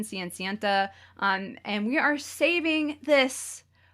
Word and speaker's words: Cenicienta: In Japanese, that's the pronunciation, Cenicienta.